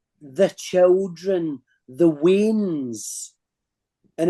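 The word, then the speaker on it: weans: and in Scotland we call the children the WIS and it's spelled w ANS and that's short for we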